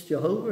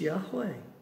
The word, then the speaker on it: Yahweh: the lord who's that that's yahweh jehovah as we used to say when we didn't understand how they pronounced words that we put a jay on it's jehovah it's yahweh said to him it's